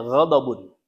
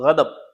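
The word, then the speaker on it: غضب: Kalau bahasa Arab, kalau misalkan bahasa Indonesianya itu gadab ya tulisannya itu. Tapi kalau dalam bahasa Arab kita bacanya ghadabun ya atau gadab ya.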